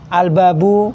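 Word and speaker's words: الباب: Qariah sama huruf Syamsiyah bedanya huruf qariyah itu kalau ada Alif lamnya dia tidak ada tasdidnya di Alif lamnya tetap dibaca Seperti apa alabu albabu kan dibaca itu beda dengan huruf Syamsiyah kalau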